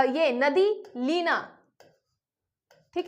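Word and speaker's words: Lena: पहले आपको पढ़नी है लेक अ यह नदी लीना ठीक है लीना यहां पे स्पेलिंग है एल ई एन ए इसको लेना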